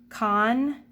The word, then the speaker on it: concentrate: So I'm seeing that there's an E following that C, meaning it's going to be soft. So now let's read those syllable types again. Concentrate, concentrate, concentrate.